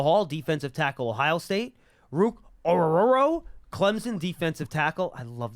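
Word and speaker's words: Ruke Orhorhoro: Penn State Michael Hall defensive tackle Ohio State Rook ororo Clemson defensive tackle I love that name so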